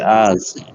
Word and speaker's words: Азии: В Азии. It's going to be I is going to be stressed.